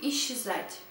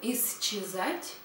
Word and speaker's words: исчезать: Infinitive – исчезать. Please note that we spell исчезать, but we pronounce исчезать.